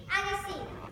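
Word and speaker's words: Agassiz: Hi, my name is Agassi. It's pronounced Auster Andre Agassi. Well, I am not a tennis.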